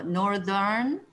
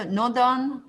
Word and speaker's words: northern: 그래서 northern, southern, 오늘날에도 northern, southern 이렇게 발음되죠. 그죠? 그래서 north 할 때는 voiceless지만 northern, southern 할 때는 voiced가 됩니다.